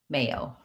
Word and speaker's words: mayo: um or another option just call it mayo which is just the may and the oh mayo mayonnaise or mayonnaise